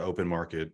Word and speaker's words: OpnMkt: Where do you want to point people to connect with you, learn more about open market, what have you?